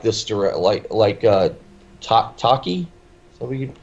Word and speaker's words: Taika: these chances for the young blood, like this Taki. Is that what you pronounce the first name? Taka. Taika Waititi.